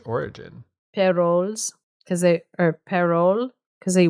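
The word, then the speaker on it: Parolles: Uh I think it's Perilles. It's apparently French origin per because they or perole because they they wouldn't pronounce the s at the end.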